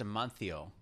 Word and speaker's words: Amancio: Also, in Spain, the C is pronounced like a TH. Thada. So it's, and the Z, so it's Amancio.